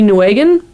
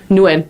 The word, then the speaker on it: Nguyen: It's by Key Nguyen. I completely butchered that name. I'm so sorry, sir. Nguyen, thank you.